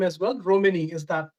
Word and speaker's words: Romene: Romini, is that how it's Yeah, pronounced?